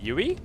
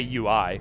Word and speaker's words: UI: say yui huh what yui that's how you say it I mean I mean you could say UI you can also say UI UI I mean that's fine too but that's that's the actual acronym okay how do you